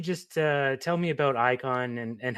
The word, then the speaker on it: Eyekon: uh tell me about Icon and and how did it come to be? Sorry, brother. I didn't catch that. Um, why don't you tell me about Icon? Is that how you say it?